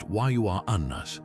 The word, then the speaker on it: Uranus: Yes, it's pronounced Wua Anus, not the juvenile alternative, though astronomers have heard every joke.